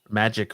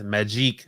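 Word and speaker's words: Magik: I'm currently mocking Marco about his pronunciations for the character Magic, which for some reason he says Magique like she is a French whore or something.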